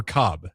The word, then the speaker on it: Cobb: Is it Cobbs or Cobb? Cobb.